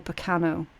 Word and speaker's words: Berkano: energy of the rune Berkana or Berkano. Okay, it's pronounced both ways, both are correct, doesn't really matter, it's all about the intent, right?